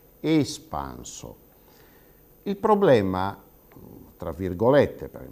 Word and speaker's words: espanso: participio passato di espandere, noi notiamo che nell'italiano standard dovremmo pronunciare quella prima E di espanso come una vocale chiusa. Noi dovremmo pronunciare in standard espanso.